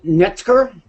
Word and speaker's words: Neftzger: Next to her is Amy Neftzger. Did I pronounce that right? Yeah, that's correct.